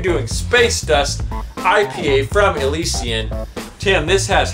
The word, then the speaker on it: Elysian: us we're doing an elysian product that's right Elysion is how it's supposed to be pronounced not Elysian I like a legion